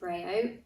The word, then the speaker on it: Brehaut: surname it is pronounced breo it is one of those guernsey french surnames that likes to confuse people and so hopefully just